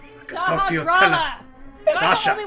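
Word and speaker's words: Sahasrahla: I can talk to you Sahasrara! Am I Sasha. the only one who can pronounce it I can correctly?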